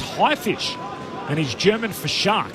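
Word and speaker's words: Haifisch: Now Rob says it's pronounced highfish and he's German for shark and it's about camaraderie in the face of adversity and the genre is called you douche heart.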